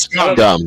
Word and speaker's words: SCOM: So just touching on the how do you say SCOM, the Supreme Court of Mayflower, the political ideology chart? I want to talk about that. It's scum. It's scum. It's scum. Okay. It's scum.